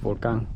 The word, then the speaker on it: Vulcan: So, the one to the left is the Vulcan Volcano, or I guess just Vulcan because that's how you say it in Spanish.